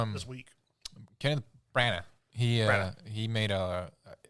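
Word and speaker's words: Branagh: Kenneth Bronna, is that how you say his name? Bronna. Brana.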